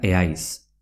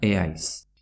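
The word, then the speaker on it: ez haiz: Z más H. Es ais, se pronuncia eais. Es ais, que quiere decir no eres de forma coloquial, se pronuncia eais.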